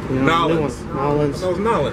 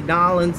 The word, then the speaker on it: New Orleans: I'm trying to say it right. New Orleans. You know, there's a lot of people that argue about how you should say it. You know, they say Nolens is a little hip touristy thing to say.